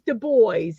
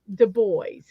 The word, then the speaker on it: Du Bois: it, and it is Du Bois. not Du They said Bois. they say they don't do it the fancy way. You pronounce it the way it's spelled, Du Bois.